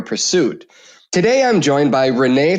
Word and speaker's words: Renee: Brandon Morton is our producer and today my guest is Renee. Renee, welcome to the show. Did I pronounce your last name correctly?